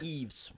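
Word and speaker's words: Yves: by Henry George cluzo starring Eve EZ montand EES EES montand yeah EES Mon oh it's like Eve s lauron yeah Eve Eve Monon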